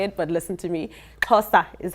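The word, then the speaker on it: Xhosa: that's how you say it but to me Casta is how you say it and then so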